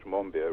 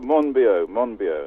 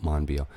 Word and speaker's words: Monbiot: Well, I think he calls it Monbiot. Not Monbiot.